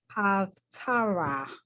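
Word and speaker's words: הַפְטָרָה: So this So is, Haftara. Tara. and again, the hey at the end gets to be not pronounced because there's no vowel connected to it.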